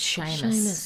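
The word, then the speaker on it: Seamus: is it it's pronounced Sheamus yeah that's right beautiful it is a beautiful yeah I love the the sound of it but it is spelled in the um traditional Celtic way which is s a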